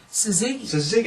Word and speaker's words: Suzuki: Suzuki. I've been pronouncing it wrong all these years.